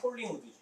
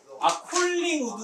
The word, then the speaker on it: 콜링우드: 그게 폴링우드지. 홀리우드요? 헐리우드요? 폴링우드. 헐리우드 그걸 안 읽었어? 헐리우드? 여기 나오잖아, 폴링우드. 홀링. 홀리우드. 콜링우드. 홀링. 추운 나무. 콜링이라고 읽는다고 걔 나올 때.